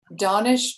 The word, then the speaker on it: Danish: Danish Damani. It's spelled as we might say Danish.